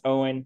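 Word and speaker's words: Eoin: I don't have a long name, but it's weird because it's 75% vowels, and that's pronounced Owen. Just forget the E.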